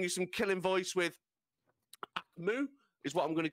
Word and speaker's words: AKMU: The K is AKMU. Silent. AKMU. AKMU. I choose which one is silent. We do appreciate those. K is silent, bro.